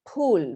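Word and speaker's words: फूल: I said that the the letter is pronounced as per and not as fur there is no fur sound so you say pal right which is fruit and you say pool which is flower it's not full it does not fall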